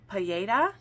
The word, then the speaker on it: paella: So then we have paella. I think you don't pronounce the L.